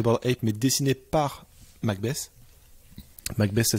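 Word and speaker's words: McBess: Avec les singes dessinés, enfin t'avais la tête de mort des Bored Ape, mais dessinée par Macbeth. Macbeth, ça s'écrit M-C-B-E-S-S.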